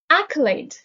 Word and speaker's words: accolade: are approach path entry accolade the stress is on the first syllable accolade is a noun